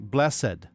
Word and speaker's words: Blessed: And I was mispronouncing his last name. Blessed. That's how you two syllables, Blessed.